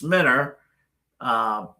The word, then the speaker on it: Mentor: Yes, if you're outside of Cleveland, it's it's Minter U, but it's spelled mentors.